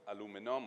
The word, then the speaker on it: aluminum: It's then sold, smelted into aluminum or aluminium, whichever pronunciation you prefer.